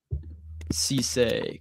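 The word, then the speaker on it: Cissé: the athleticism is not what you necessarily want to see, but I think Cisse, correct pronunciation.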